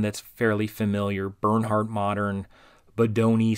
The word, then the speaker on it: Bodoni: Here's Dido is one that's fairly familiar, Bernhardt Modern, Bodoni, sometimes I say Bodini because a lot of these fonts are hard to pronounce.